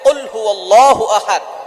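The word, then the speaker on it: قل هو الله أحد: আমরা অনেকেই কফের জায়গায় কাফ পড়ি। একটা হচ্ছে কফ। আরেকটা হচ্ছে কাফ। কাফটা একটু পাতলা হবে। চিকন হবে। আর কফ একটু শক্ত করে পড়তে হবে।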